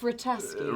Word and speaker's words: Vrataski: It's pronounced Vrataski.